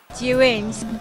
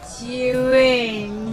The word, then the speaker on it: Zhiyun: Zhiyun, Zhiyun. So this is the correct pronunciation for Zhiyun.